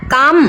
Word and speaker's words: GOM: อักษร ตรง นี้ ไหม อ่าน ว่า กอม ทุก คน ทราบ ความ